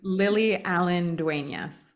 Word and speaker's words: Lily Allen-Duenas: It's Lily Allen-Duenas. Okay, perfect. I don't think I butchered it too bad.